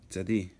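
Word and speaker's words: צדי: It is pronounced tz, like it's TS. Tz. Tzadi.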